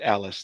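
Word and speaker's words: Alys: one of them Alice okay it's pronounced Alice thank you yeah that's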